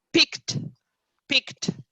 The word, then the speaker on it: picked: Ok, filled, mentre invece checked e anche picked. Sentite che la stessa id viene pronunciato a volte come normalmente, come ce lo aspettiamo, una D, ma molto spesso in molti verbi si sente quasi una T, ok?